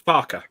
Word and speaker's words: Farquhar: actually did edit that, so it actually does say the proper pronunciation of Farquhar. Just took out the extra F. Well, if you're Willie Rush, I'm fairly sure it's Farker.